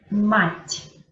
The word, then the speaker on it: мать: Entonces yo pronuncio la T como si yo tuviera la intención de decir la I, como si yo tuviera la intención de decir mать, pero yo no digo la I, yo solamente digo mать.